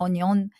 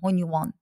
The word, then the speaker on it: Hunyuan: انطقه غلط ولا صح هونيوان اوكي تمام دي النطق الصح يا جماعه ما اسمهوش هونيون اسمه هونيوان هذا النموذج عندك زي